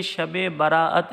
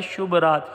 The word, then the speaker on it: شب براءت: کو پورا دیکھیے گا۔ سب سے پہلے اس تلفظ کو درست کر لیجئے، یہ شب براءت ہے۔ شب مانے رات، براءت نجات، یعنی نجات کی رات ہے، یہ جہنم سے آزادی کی رات ہے، چھٹکارے کی رات ہے۔ یہ جو عرف عام میں لفظ استعمال کیا جاتا ہے شب رات، یہ شب رات غلط تلفظ ہے، شب کوئی لفظ بنتا